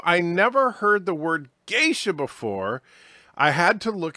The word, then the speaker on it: geisha: in it Berta prey says the word Geisha however he pronounces it I believe guys ax and he had no